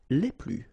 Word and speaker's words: les plus: and the plural form, les plus. Okay, so keep in mind that I don't pronounce this final S here, so we get le plus, la plus, les plus.